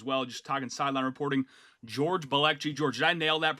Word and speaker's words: George Balekji: George Balekji. George, did I nail that pronunciation right there?